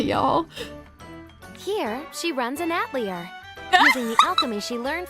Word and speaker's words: atelier: Here, she runs an atelier, using the alchemy she learned from her late grandmother. I forgot that's how they pronounced it in the English. It should be Atelier, but you know what?